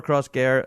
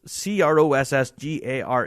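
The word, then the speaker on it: Crossgare: I absolutely sympathize so when you spell upper cross gear it's c r o SS g a r e it's gar cross gar but uh there you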